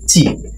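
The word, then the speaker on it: ち: তায়ের পরে সাধারণত আমরা টি বলতাম, ত রসিকার তি বলা উচিত ছিল, কিন্তু এখানে তি হয় নাই, তাহলে বোঝা গেল তায়ের পরে আমরা তি বলবো না, তায়ের পরে বলবো আমরা চি।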